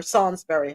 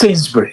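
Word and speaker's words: Sainsbury's: industry supermarkets including Tesco is it saintsbury or Sansbury how do you pronounce it um over there ad SOI it's saintsbury sabur okay so was right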